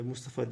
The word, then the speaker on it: Mustafa: nasıl yazıldığına iyi bakınız Mustafa orijinali Mustafi Tabii e Mustafa diye telaffuz ediliyor oğlu Ali ve Sadullah